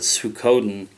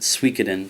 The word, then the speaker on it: Suikoden: For a long time I called it Suikoden, but I actually heard somebody else pronounce it Suikoden, so we'll go with that.